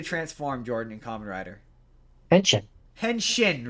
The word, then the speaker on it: Henshin: Yeah, shin like your shin. Henshin like shin shin. Like your shin. Yeah, exactly not sheen, but he pronounces it sheen Henshin and I'm like, "Oh my god, you're mispronouncing it wrong."